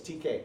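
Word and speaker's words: Teka: And I never know how to pronounce Texas town names. Some on the map, some of them just are the letter T and K, TK. Some of them are T-E-K-A. So anyway, it's TK.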